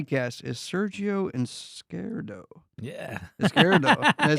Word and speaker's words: Izquierdo: Izquierdo.